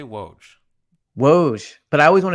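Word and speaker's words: Wojnarowski: say why can't you just say woj wo but I always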